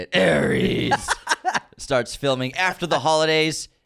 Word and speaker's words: Ares: Ares.